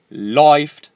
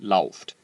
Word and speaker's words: läuft: Läuft, not lauft.